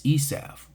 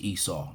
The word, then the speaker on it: Esau: White Christianity is Esav, Esau, Edom, because the rabbis say Esav. It's kind of fun saying it that way. So, but it's pronounced, in English, it's pronounced Esau and Edom.